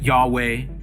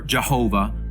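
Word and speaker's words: יהוה: One of the very names God uses for himself is the YHWH, of which the exact pronunciation has been lost. Yet some pronounce it Yahweh or Jehovah or Yahovah.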